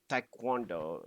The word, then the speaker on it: Taekwondo: So, Taekwondo, if you wanted pronunciation.